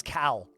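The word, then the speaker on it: Kal: yeah God's name is Cal k a l like Al rhymes with Al or B actual God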